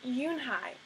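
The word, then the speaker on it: Unhei: turned to Joey she nodded slowly yes it's pronounced eun-hye and it means grace mr.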